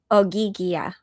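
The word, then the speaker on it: Ogygia: I think in um I guess that's the ancient Greek pronunciation. I go no that's a modern Greek pronunciation um because the ancient Greek would say oiga you know rather than oya.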